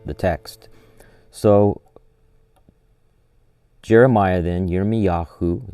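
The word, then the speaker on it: ירמיהו: So Jeremiah then, Yirmiyahu is how you say his name in Hebrew, chapter 31, verse 31.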